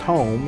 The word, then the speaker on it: Home: Our clan name is spelled H-U-M-E, but it's pronounced home, so it was Clan Home.